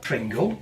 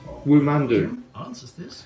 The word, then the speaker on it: Womando: just once for me Pringle no it's not Pringle so what is my name woo man do listen you're a great guy but bloody hell